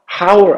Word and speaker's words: hour: hour 아닙니다. hour이라고 있죠? 그럼 H가 묵음, 즉 소리가 안 나요. 그러면 어일까요? on일까요? 자, 소리가 안 나고 소리가 나죠? 그러면 on hour이 돼요.